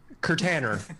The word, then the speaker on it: Kirtaner: to me on twitter at k-i-r-t-a-n-e-r or just pronounce that for me curtainer because he is not a container i am